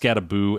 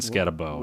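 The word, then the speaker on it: Skattebo: I've heard it pronounced Scattaboo and Scatabo.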